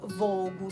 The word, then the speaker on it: Fogu: Comunque a Cagliari si legge a Suvogu, è scritto Fogu, però Vogu si legge.